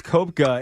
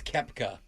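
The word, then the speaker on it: Koepka: Brooks Kopka and Rory Maroy are all professionals known for playing what sport? Basketball. I don't know. It's Brooks Kepka. Just so you know, it's spelled Copka.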